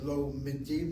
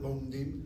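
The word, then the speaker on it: לומדים: Anachnu tenhem lomedim. Notice I say lo midim, not lomdim. Lo midim, you sound the shvanani to mem.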